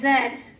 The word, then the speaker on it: ZED: the president of ZED Digital. In fact, ZED is for the letter Z.